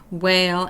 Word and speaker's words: whale: sound and circle that whale ends in a vowel sound we're going to cross it off because it is a uh silent letter but we will highlight